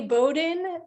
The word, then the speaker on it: Bowdoin: I always pause on our introduction slide just because you say Bowdoin, but it's spelled like this, and that's always a little awkward.